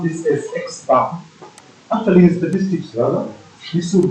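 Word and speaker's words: x̄: fact the formula is x sorry okay we pronounce this as x bar actually statistics rather this would be x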